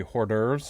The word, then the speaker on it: hors d'oeuvres: the hors d'oeuvres we hor d'oeuvres larger orders what you pronounce the H you know that there's an H in that word know so it's a silent age I'm an English major